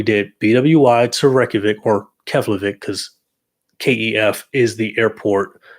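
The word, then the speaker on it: Keflavík: I think that's how you pronounce it, Keflavik, Kef.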